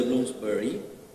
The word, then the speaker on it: Bloomsbury: los fabianos, como era parte del círculo de Bloomsbury, ahí lo pronuncié bien, él ya conocía la obra de